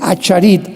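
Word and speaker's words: אחרית: que son las palabras Aharit, Shanek en el hebreo. Se escribe Acharit, A-C-H, tal como suena.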